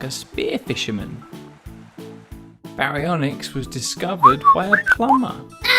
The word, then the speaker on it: Baryonyx: Now it's time for Baryonyx.